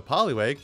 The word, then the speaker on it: Poliwag: the same thing with poliwag where the because this is the same article by the way to get the attention - poliwag you should say it like a fishing pole holy wag now let me hit